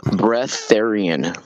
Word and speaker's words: breatharian: It's called breatharian. Breath like the word breathe and then Aryan.